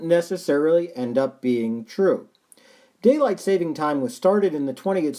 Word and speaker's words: daylight saving time: nobody even pronounces properly most people will say daylight savings time somehow mixing it up with a savings bank but it's actually daylight saving time it's the time that